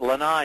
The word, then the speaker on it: lanai: Here's that lanai again. Did I say it?